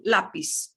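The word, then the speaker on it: lápiz: i'm not sure anyway the set that will not have the z z z z that buzz sound to it it'll sound like an s okay it'll sound like an s in most situations okay uh so you get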